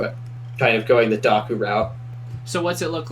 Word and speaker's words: Dokku: a Docker for you daku how do you spell that d o k kuu it's like Heroku oh like the KU on the end it's like Docker and Heroku together yeah smart all right